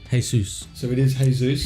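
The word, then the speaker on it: Jesús: because it's written weird it's spelt Jesus but it's got the apostrophe above that you hey soos so it is hey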